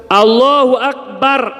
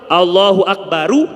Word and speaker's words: Allahu Akbar: Padahal kalau lihat nahu ya dalam bahasa Arab, mestinya dibacanya domah. Allahu Akbaru, Allahu Akbaru, mubtada khobar. Ini dalam pelajaran bahasa Arab. Tapi sunnahnya, karena dulu di zaman sahabat itu dibacanya kayak gitu, sehingga sekarang sunnahnya gitu.